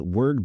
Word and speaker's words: Wyrd: that the website is word bookstore and word is not spelled like most people will hear it is w yr d is that a gay